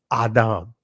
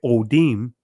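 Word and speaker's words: אֹדֶם: So it would be actually pronounced Adam. Big difference of saying Odim versus Adam.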